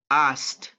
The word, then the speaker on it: asked: So we asked, in this case, guys, we asked. This is the ending sound. We asked. We asked. We asked. Letter K is not pronounced, so it's just asked.